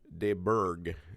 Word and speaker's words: de Burgh: So I have on today de Burgh. Is that correct? How I pronounce it?